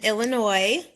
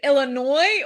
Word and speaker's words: Illinois: Um and is it Illinois or Illinois? Like what like for real, how do we pronounce it? That's a it's a silent S.